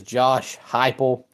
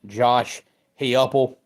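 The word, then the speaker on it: Josh Heupel: day has been number seven for me is Josh hypo or if you pronounce his name the correct way Josh heuple I mean you got to give him credit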